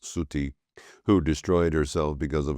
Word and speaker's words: Sati: compound Shiva's consort furthermore the goddess Sati pronounced Suti who destroyed herself because